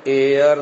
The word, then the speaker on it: heir: the word HD ayah it is pronounced as air north air the last